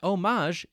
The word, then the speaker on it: homage: If we reference a different resource, the often cited Merriam-Webster dictionary, we see that homage is an accepted way to pronounce this word.